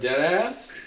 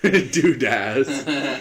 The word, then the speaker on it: Dudas: Sergeant Deadass? Dudas. It's spelled D-U-D-A-S.